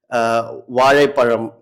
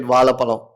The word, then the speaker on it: வாழைப்பழம்: Say for example, Vazhaipalam. They couldn't say. Okay. They said Valapalam.